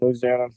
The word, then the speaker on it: Louisiana: Probably might live as a crow flies, maybe 2 miles from Louisiana, Okay.